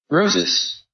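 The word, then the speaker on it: Rosice: Roses. Roses. So it sounds like roses.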